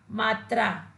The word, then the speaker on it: मात्रा: बच्चों, इस शब्द में त और रा, इन वर्णों का प्रयोग करने से इस शब्द का जो उच्चारण है वो अशुद्ध हो गया है और इसका शुद्ध उच्चारण होगा मात्रा।